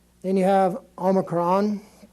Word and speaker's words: Omicron: Z then you have Omicron which is just an o sound and an equivalent to an English o which is a short vowel Omicron is the name of it and it's just like the O and an omelet I'm omelette be that